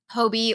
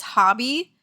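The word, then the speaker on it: Hobbii: I recently tried the Hobie or I guess it's hobby. I always pronounce it Hobie, but then I was watching one of their like bingo games and they pronounced it hobby.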